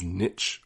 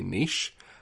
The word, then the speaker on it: niche: On that topic, another pronunciation that really grates me each time I hear it is niche, whereas we would say niche. Again, they're choosing to rhyme it with itch, whilst we would